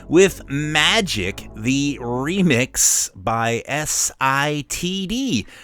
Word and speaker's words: SITD: got this remix of Magic on there by STID. Am I saying it right? Because I want to say Yes. like STD. SITD, yeah.